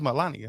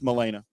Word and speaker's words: Milena: I thought it was Melania. With 2 M's. It's Milena.